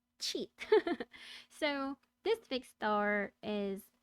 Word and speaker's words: Scheat: na silent s sha h e a t cheat so this fixed star is not the best